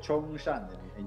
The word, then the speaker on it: Chongqing: Así se pronuncia, ¿verdad? Así es, Chongqing.